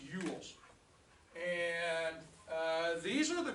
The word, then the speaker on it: Ewells: the group of people this is pronounced yules like you you yells all right all right this is pronounced yules and uh these are